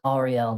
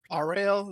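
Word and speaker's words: Auril: Other settlements have found less barbaric ways to try to appease Ariel, the frost maiden.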